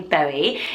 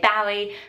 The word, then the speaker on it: Bowie: Obviously David Bowie, some people mispronounce it and say Bowie, but it is Bowie.